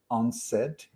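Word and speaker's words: UNCED: that was called u-n-c-e-d when when you pronounce it it's unsaid i love these type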